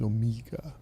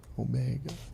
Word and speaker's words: Omega: I always listen to the James Bond pronunciation. The Daniel Craig. He says Omega. Omega.